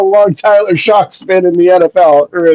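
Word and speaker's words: Shough: being a quarterback Tyler so Tyler saw shock shocked you'd be shocked on how it's pronounced it's shock it is very shocking how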